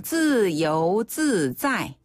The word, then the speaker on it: 自由自在: 自由自在. 自由自在. 한 번 더. 自由自在. 自由自在. 그렇죠. 자유자재였어요. 자이가 아니라 짜이군요.